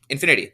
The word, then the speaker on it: InfiniT.: is still the old Infinity theorist but yeah Infinity that's how it's pronounced uh INF or capital I lowercase n